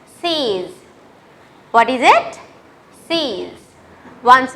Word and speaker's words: six: Although you write 6 here, you pronounce it as six.